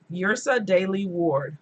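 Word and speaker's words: Yrsa Daley-Ward: Yrsa Daley Ward, and it's spelled Y-R-S-A.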